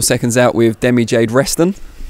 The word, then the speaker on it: Resztan: out with demi jade reston i've pronounced that correctly we're just saying off camera you've got a random zed in the middle of your name that throws people off